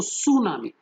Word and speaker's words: tsunami: T silent है। तो सुनामी ये एक जापानीज ओरिजिन